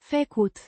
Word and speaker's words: făcut: Pronounced. Fă-koot. With a slight emphasis on the first syllable.